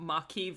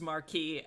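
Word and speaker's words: Maquis: also there's a discussion in the chat about maki versus marquis and i agree it sounds that pronunciation thing screwed me up so much when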